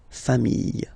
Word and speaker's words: familles: the plural form, les familles. Okay, remember, chien, singular form, chien, same pronunciation, but you put this S. Okay, final S not pronounced. Famille, singular form, famille, plural form, same pronunciation, S not pronounced.